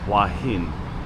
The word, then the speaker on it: Hua Hin: And I'm very sure it's pronounced Hua Hin, but I have also, once again, heard that pronounced a few different ways.